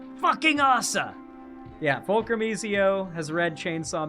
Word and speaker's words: Asa: Now, the pronunciation of Assa as AS Asa is kind of insane. Okay, now I'm pretty certain assa is pronounced assa because I don't think there are hard a syllables in Japanese names. So assa is definitely pronounced assa.